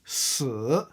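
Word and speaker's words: 死: C'est pourquoi les chinois n'aiment pas le chiffre "4" car il se prononce Sì - 4ème ton. Et "Mort" se prononce Sǐ - 3ème ton. La similitude entre ces 2 prononciations, couplée à de la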